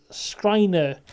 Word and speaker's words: Schreiner: So it's Schreider. I wrote it down how you say it. Schreiner.